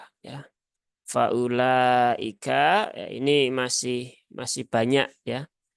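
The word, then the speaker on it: فأولئك: masih masih banyak yaitu wunya di sini tidak dibaca ya Jadi ini bukan waau Mat ya Ini bukan waau Mat sehingga tidak memberikan Efek kepada Hamzah yang dah menjadi panjang sehingga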